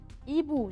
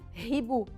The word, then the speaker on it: hibou: Hibou, j'écris le H. Le H est une lettre que je ne prononce pas. Hibou. ما بقول هيبو.